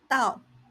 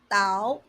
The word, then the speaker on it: 倒: It can be pronounced as Dao, as in pour, or Dao, as in to fall.